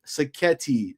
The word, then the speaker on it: Sacchetti: Our guy Mark Sacchetti, that rhymes with spaghetti.